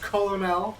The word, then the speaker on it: colonel: reason for no reason actually colonel it's pronounced colonel that's how we read it i read it